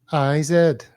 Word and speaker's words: Corteiz: Cortez. I'm looking at it. Well, it's Corteiz, right? Yeah, but then on the website it's spelled CRTZ.